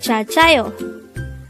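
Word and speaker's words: 잘자요: Jaljayo. Jaljayo. This is composed of two words. The first word is jal, and the second word is composed of two syllables, namely ja and yo.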